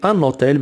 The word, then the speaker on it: un hôtel: premier mot un hôtel il commence par un h muet à h qui ne se prononcent pas on dit annotel mais stan h muet